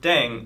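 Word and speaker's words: 땡: with language now yeah the pronunciation of deng is similar to thang which is the slang of thing in english last but not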